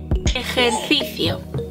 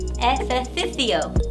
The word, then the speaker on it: ejercicio: Ejercicio. Ejercicio. That's hard. Ejercicio. Good job. Hard. Ejercicio. You still have to put your tongue up there.